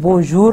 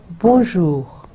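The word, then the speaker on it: bonjour: سو پہلا جو تھا بون, پہلا حصہ بون, اور سیکنڈ ہے جور. بون جور جو غ, دیکھیں غین اردو کی طرح سے ملتا جلتا, سو اس کو ہم بونجور نہیں کہیں گے, رے انگلش کی طرح پڑھنے کی کوشش نہیں کریں گے, بونجور.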